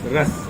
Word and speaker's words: ros: pav in this wonderful Ross, and Ross omelette is spelled R-O-S and an omelette. But, well, it is Ras, R-A-S, but it's the Goan way, the Konkani way of saying Ross, R-O-S.